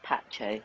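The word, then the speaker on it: Pace: you said um Ultra Jose Carlos Pache that's how you pronounce it so that's awesome 14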